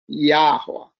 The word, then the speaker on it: Yahuwah: letters are put, but the most common way it was pronounced has always been Yahuwah.